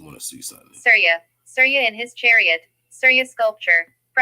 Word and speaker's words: Surya: to see something serious Surya and his Chariot Syria sculpture prep next brev next fast facts pronunciation sewer y a a Origin India roll sun god wives sharanya ragi prabha who is Surya Surya is both the